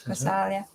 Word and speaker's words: Kausalya: in the arms of Kausalya. Is that how you say it? Yes, Kausalya. Conquered by her love and devotion.